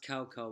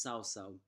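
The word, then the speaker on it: Cao Cao: Brigade Oh led by sow sow it's not cow cow what I said last time it's actually pronounced sow sow a descendant holding a spear that it's called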